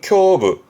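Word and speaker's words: 胸部: 그 가슴 흉인데 대표적으로는 흉부 발음은 쿄부. 음으로론 갑니다.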